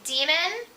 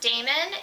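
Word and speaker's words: Daemon: and a guy named demon who I would have pronounced Damon and I had been reading it but because I was listening to the audiobook I know it's pronounced demon she forms an immediate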